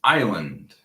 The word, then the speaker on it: island: The pronunciation is island, okay?